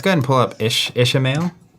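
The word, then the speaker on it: Ishamael: Let's go ahead and pull up Ishmael Is that how you say it? Ishmael? It's not Ishmael. Ishmael.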